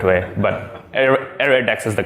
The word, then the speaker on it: ArrayDeque: these these things are called air attacks not array DQ's there was someone pointed me to a English dart Stack Exchange link which there was like a massive discussion what's the correct way but area Dex is the correct pronunciation all right so bought